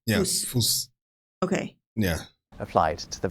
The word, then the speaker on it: Fuß: So that bee-looking thing, I know I said it wrong. Okay. But it's it's a double S. Yeah. Fuss.